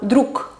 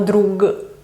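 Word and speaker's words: друг: La G pasa a K. Por ejemplo, druk, druk, que es amigo. Druk, no drug, sino druk.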